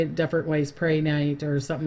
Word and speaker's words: Prehnite: say it different ways, Prehnite or something like that, but I've heard that it's Pri. They say saying it that way, even though it's spelled Pre. So Prehnite.